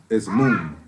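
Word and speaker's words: מום: The Hebrew word for blemish in this word is moon. It's spelled M''UWM.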